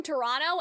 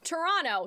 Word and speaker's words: Toronto: for example I'm from Toronto and a lot of people will say Toronto they won't pronounce it like Toronto and so they do